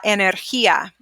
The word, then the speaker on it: energía: The next one is la energía. La energía. Energía. So this sound, it makes an H sound, okay? Like he.